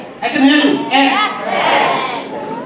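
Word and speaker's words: এক: So one, egg. I can hear you. Egg.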